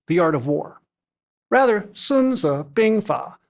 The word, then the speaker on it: Sunzi Bingfa: Rather, Sununza Binga uh the title as pronounced in modern Mandarin is more accurately translated